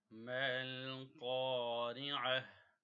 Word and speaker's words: ما القارعة: ما القارعة؟ ميم کو لام سے ملایا because ساکن لیٹر ہے، قاف کو کھینچا الف مدہ کی وجہ سے، را کو باریک پڑھیں گے، عین کی